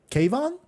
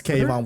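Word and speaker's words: Keivonn: gonna pronounce his theme kayvon kayvon i think it's cave on woodward yeah kayvon yeah which hey that's a cool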